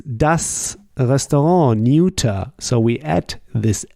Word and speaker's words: Restaurant: You see, for restaurant, we use the French pronunciation.